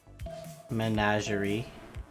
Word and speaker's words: menagerie: Menagerie. Menagerie? I don't know what menagerie is. Maybe I'm an idiot. That's how you pronounce it.